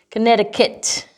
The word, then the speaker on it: Connecticut: some of the words there are words with silent c and no s so um think of